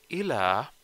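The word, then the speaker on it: إلى: But ila, on the other hand, doesn't have any tashdid on it. So it doesn't have any tashdid. There is another thing here. It has a ya, small ya here.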